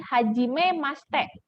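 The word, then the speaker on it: はじめまして: romajinya yang pertama hajimemaste Haji memang tulisannya Hajimemashite tapi kalau orang Jepang suka Cepet jadi hajimemaste seperti itu Yahudi tadi udah ini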